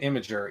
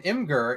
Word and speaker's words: Imgur: Because calling it Imager is bad and dumb, Ben.